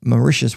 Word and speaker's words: Mauritius: Malta, Portugal, Panama, Maitia, Mauritius, which which rhymes with delicious.